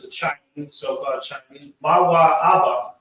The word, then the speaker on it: Moab: Mawa Abba is the pronunciation of Moab in the Lashon Kodash. Because again, we're not using any vowels, it is Mawa Abba. And in ancient Hebrew, Ah is actually not a vowel.